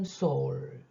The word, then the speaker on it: Saul: 사울의 영어 발음 Saul, 과거 진행이 이 단락 속에 나오네요.